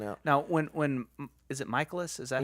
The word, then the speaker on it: Mikolas: Oh, it was great because even after he said how to pronounce it, everyone was like, "Yeah, Miles Mikolas." It's like no, he said it's Michaelis, guys. Michaelis. So that's how he wants it pronounced.